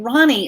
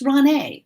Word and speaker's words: Ronei: I get Ronnie a lot, and that's okay too. But it's Ronei. Think of the word neighbor and how the first